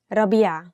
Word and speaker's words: ربيع: Maybe ربيع is difficult because of the ع, so say ربيع.